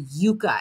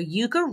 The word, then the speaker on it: Yuka: I believe it's pronounced the Yuka app, Y-U-K-A.